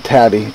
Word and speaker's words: Tadi: were working with uh I pronounce it taty t a our brothers okay um and they